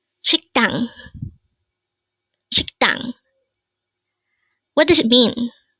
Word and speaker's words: 식당: Again, it's 식당. This is pronounced as a two-syllable word. The first syllable is shik, second syllable is dang. Pronounce it with me. 식당.